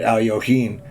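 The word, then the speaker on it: Alekhine: and saying hey you know you say it Al yohen and it spelled it out in one of the books like the pronunciation so I thought oh that's pretty cool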